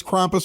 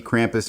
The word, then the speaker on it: Krampus: anything else that's a little weird in this Krampus Market well I I'm working on getting some characters for this Market maybe Krampus himself is it Krampus or Krampus uh I